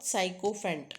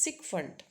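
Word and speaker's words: sycophant: how for this category it's not psychopant it's sikont so that's a sundant is buttering or flattery right that's a sikfant Then next is dictionary.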